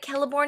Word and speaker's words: Celeborn: It's crazy because I know that Celeborn is pronounced Celeborn.